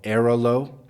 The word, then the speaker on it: Airalo: the country now I like a company called aolo it's spelled AI r a l o there are